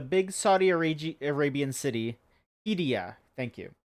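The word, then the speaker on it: Qiddiya: big old mega city project, uh is it pronounced Kia? Q I D I Y project. It's Q I D I Y A. KIA Quidia. It's um the big Saudi Arab Arabian city. Hidia.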